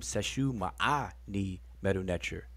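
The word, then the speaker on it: Seshew Maa Ny Medew Netcher: to the seshu channel due to people mispronounced mispronouncing our name seshu ma'a knee meadow nature just call us to seshu call me the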